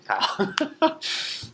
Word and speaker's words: chyle: Kyle, right? C-H-Y-L-E, right? My name, Kyle. But C-H-Y-L-E, that's how it's spelled, Kyle.